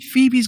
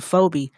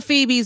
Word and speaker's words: Phoebe: no i pronounced it phobia like i didn't know i'm sorry it's all the phoebe's in the world i'm